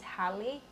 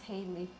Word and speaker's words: Haley: It's actually pronounced as Hallie. Hallie. But we just pronounce it as Haley, right?